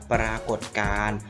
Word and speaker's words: ปรากฏการณ์: ท้อง ฟ้า นะ เรียน สามารถ อ่าน ออก เสียง ได้ 2 แบบ นะ ครับ ปรากฏ การณ์ หรือ ปรากฏการณ์ ซึ่ง หมาย ความ ว่า